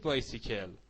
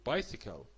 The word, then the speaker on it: bicycle: نگید بایسیکل، بگید bicycle، bicycle.